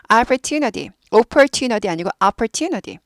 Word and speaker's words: opportunity: opportunity chance 비슷한 말인데 opportunity 발음 안 하고 내려갔네 까먹었어요 예 opportunity opportunity 아니고 opportunity opportunity opportunity opportunity opportunity opportunity opportunity opportunity R 있으니까 불어요 opportunity opportunity opportunity opportunity 해서